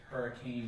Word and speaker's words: Hurricane: very white very Mormon Hurricane Utah um I pronounced Hurrican um Southern Utah um